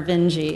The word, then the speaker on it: Vinge: I'm very interested in Werner Vinge. Is that how you pronounce his name? I never knew Werner how. Werner Vinge, yep.